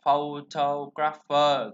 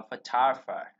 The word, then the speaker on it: photographer: O này nè, chữ O này, để ý chữ O này nha, nó sẽ chuyển thành âm A hai chấm, A kéo dài nè, đó, âm nhấn đây.